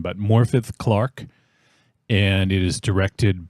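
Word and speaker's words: Morfydd: it stars Matt Smith morphi morphi I I I looked up how to pronounce her name because I was a little confused it's a Welsh name but morfi Clark and it is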